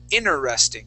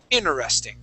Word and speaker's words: interesting: word okay we say interesting so we skip over that first T okay we don't say interesting we would say inner interesting try that interesting interesting